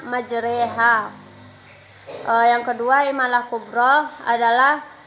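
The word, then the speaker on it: مجراها: Pada lafal majra ha maka cara membacanya majreha.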